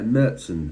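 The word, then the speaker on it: Märzen: I'm going to be reviewing a Marzen, or a Marzen as it's pronounced in Germany.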